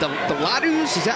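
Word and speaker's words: laddu: The ladus?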